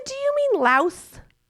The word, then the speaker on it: Laos: He go, "I'm going to Vietnam and Lao." Like, he's going again. Like, what? I said, "Do you mean Laos?" like what you're being I'm like he said we don't pronounce the S.